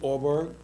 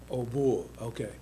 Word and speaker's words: Aubourg: If you want to say in French is O. Obg.